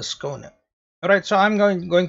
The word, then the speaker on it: Skåne: this is this now after I google it it's like this corner oh yes this ship is called the schooner alright so I'm going